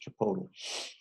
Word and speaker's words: Chipotle: I guess it's um there's no accent on the ends I guess it's just Chipotle okay so close your document